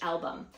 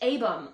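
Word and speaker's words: Albom: he says by Mitch album could have fooled me my entire adult life I've been saying Mitch aam like the L is silent well that's a lie so I read the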